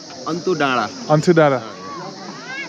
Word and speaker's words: Antu Danda: I said that's the name of the place on, Antu Danda. How do you say it? Antu Danda.